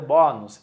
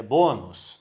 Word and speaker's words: bônus: Ninguém vai ler bônus. É bônus.